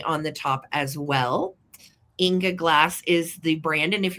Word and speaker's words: Ingeglas: these are Inga glass from Germany.